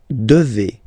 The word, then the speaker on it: devez: And then vous devez. Remember, classic ending for vous here, a Z, but then you pronounce this combination of two letters, et, devez, devez, vous devez.